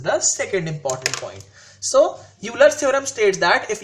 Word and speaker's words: Euler: which is called as euler's theorem basically pronunciation is Euler's theorem it is not Euler's which may be lecture when a Euler bilasa but that is wrong the kinetic enunciation is